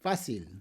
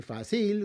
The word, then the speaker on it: fácil: Words like easy, fácil, right? We don't say fácil, we say fácil, so we have to put a written accent.